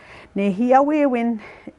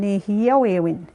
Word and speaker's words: nêhiyâwewin: Nêhiyâwewin is pronounced as the Cree language within the Y dialect. Okay, even that one, some places they could be saying nêhiyâwewin, like, you know, different pronunciation with even just that term.